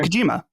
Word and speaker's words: Hideo Kojima: Hideo Kojima. Yeah, right. Kojima, okay.